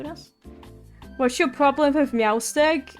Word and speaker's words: Meowstic: Why is it called Meowstick?